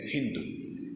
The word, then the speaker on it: Hindu: La gente le dice río Sindhu, pero en persa, en farsi, la lengua de Persia, la S se pronuncian como una H aspirada. Entonces en vez de decir Sindhu, dicen Hindu, y a la India le